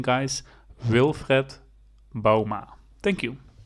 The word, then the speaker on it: Wilfred Bouma: played for long time for PSV and you pronounce it like this will Fred Bouma wil Fred Bouwma Yes so Now You Know More video's pupping